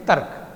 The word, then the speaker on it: तर्क: जब र आधा वाला अक्षर है उसका आप उच्चारण की दृष्टि से देखिए, तर्क, तर्क, थोड़ा माइंड में चले जाइए ना, तर्क, तर्क बोलो आप, तभी आएगा, उच्चारण के बिना समझ में नहीं आएगी लिखने में। तर्क, तो र हमने पूरा नहीं रोका ना, जैसे हम तर बोलते या तरु बोलते तो उसमें रोक देते, तो यहाँ पे हमने रोका नहीं है।